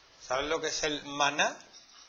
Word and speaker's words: maná: ¿Sabes lo que es el maná? Lleva tilde porque termina en aguda. ¿Sabes lo que es el maná o no?